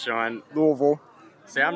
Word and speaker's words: Louisville: How's it pronounced, Sean? Louisville.